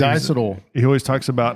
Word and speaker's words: diacetyl: He always It's diacetyl.